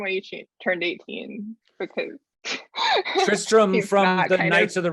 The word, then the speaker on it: Tristram: sir tristan it's the tristram and well it's also sometimes pronounced tristan yeah and it's all is